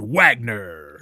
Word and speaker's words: Wagner: Karl Edward Wagner.